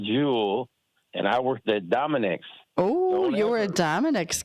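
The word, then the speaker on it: Dominick's: Because it's pronounced Dominic's with a S.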